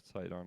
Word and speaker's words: Sidon: Yeah, Sidon, I think is the correct pronunciation.